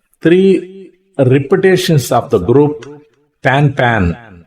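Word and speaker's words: pan-pan: by our call sign it shall be pronounced as the French expression pan pan pan p a n n e it indicates it is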